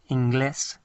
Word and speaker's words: inglés: So, don't get your English, inglés, and your groins, inglés, mixed up. So remember emphasize the last part, inglés.